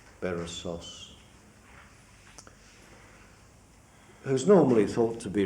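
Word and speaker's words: Berossus: Bab bonian historian named basos how would you pronounce it properly Sher I said it right did I I thought it must be Accent on the last syllable barasu who's normally thought to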